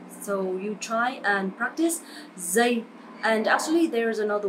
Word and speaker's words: giây: This sound is not like J or G sound in English, but is similar with Z sound. Giây, Z. So you try and practice giây.